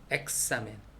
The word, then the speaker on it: examen: 그 다음에 모음하고 x, 모음, 이렇게 모음 사이에 x가 있다. 그러면은 gs 발음, 그스, 그스, 그스, 그스 발음을 하면 된답니다. 엑사멘, examen, 그래서 엑사멘, 그엑사, 그스, 그스, 엑사멘.